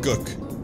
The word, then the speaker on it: gook: I'm the happy cook who feeds the people gook. Thank God it's pronounced gook. And it's supposed to rhyme with cook and book.